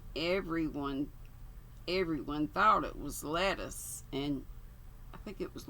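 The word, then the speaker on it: Lettice: was all right everyone everyone thought it was lettuce and i think it was laura lee told me that's how it's pronounced i was going to call her latisse i might i might call her latisse anyway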